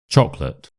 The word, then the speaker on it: chocolate: Chocolate. Chocolate. chocolate. So, the first part is stressed chalk and the second part is just a simple schwa sound, chocolate.